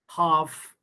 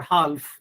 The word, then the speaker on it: half: you know you see l sound is silent in talk almond half we don't say talk or almond or half so again you know